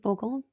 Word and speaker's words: Bourgogne: Bourgogne.